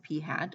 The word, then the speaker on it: p hat: Statistic is about the sample, and we don't call that p, we call it p hat. And yes, it really is pronounced that way by statisticians, p hat.